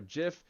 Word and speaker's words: GIF: file it's a screenshot like a gif that'll or jif you know please don't flame me too much on the comments but however you want to pronounce it there's a gif or